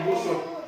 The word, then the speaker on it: Ibu Sud: Ya, bacanya Ibu Sud.